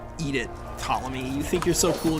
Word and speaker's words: Ptolemy: Eat it, Ptolemy. You think you're so cool just because you have a silent P in your name?